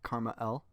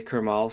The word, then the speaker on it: KrmaL: Your name is pronounced Karma L. Yeah. I mean, honestly, I've heard people say Kmal so much now that I'm like I'm like reading it that way.